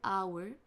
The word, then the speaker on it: hour: Ici c'est prenez place seat ou in hour. Hour se prononce exactement de la même façon que l'heure.